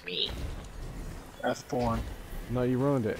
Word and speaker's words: Wrathborn: The Wrathborn. Oh, Wrath. Thank God you're saying it right. Remember when we were fucking Wrathbone?